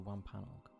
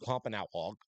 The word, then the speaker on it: Wampanoag: Wampanoag. It's not Wampanoag. It's Wampanoag. That was hilarious. But not like that. Wampanoag. It's because it's like AU.